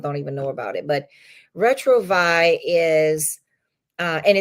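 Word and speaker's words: Retrouvaille: It's something called Retrovi. Retrovi. I've never heard of that. Retrovi is spelled uh re t o u v a i l e.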